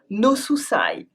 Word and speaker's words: no souci: You might even hear some people mix the two languages with a strange accent, and use « no souci » [prononcé « no souçaille »].